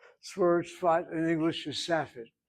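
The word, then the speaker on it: Safed: But al the word is in English pronounced as safet.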